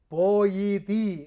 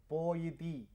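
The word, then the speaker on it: ποιητής: നവീനമായ പദാർത്ഥങ്ങൾ കണ്ടുപിടിക്കാൻ സാധിക്കുന്നവനാണ് പോയറ്റ് പോയിതി എന്നാണ് അത് ഇരുക്ക് ഭാഷയിൽ ഉച്ചരിക്കുന്നത് പോയിതി എന്നാണ് ഉച്ചാരണം അത് സായിപ്പെടുത്ത ഉച്ചരിച്ച് വൃത്തികേടാക്കി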